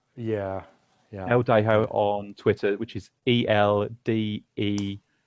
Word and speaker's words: Eldejo: It's Jason am I pronouncing that right? Is it Eldejo? Yeah. Yeah. Eldejo on Twitter, which is ELDEJO.